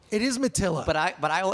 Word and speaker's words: Matilla: instagram now onto the show the podcast Mattia did I pronounce your name correctly that's a much cooler way of pronouncing it but it's actually Mattila it is Mattila but I but I will answer to Matty